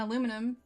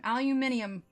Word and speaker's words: aluminium: and aluminum that's true we say aluminum aluminium well let's see aluminum aluminium aluminium because it's everywhere else it's aluminium right because I feel like if we were to pronounce the I it would be aluminium aluminium aluminum poison is